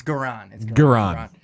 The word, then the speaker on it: Garan: It's either it's Garan or Goran. It's Garan.